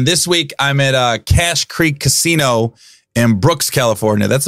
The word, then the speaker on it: Cache Creek: cache a Creek Casino it's cash Creek but they spell it CA CH e so I thought it was cachet it rides hair streaked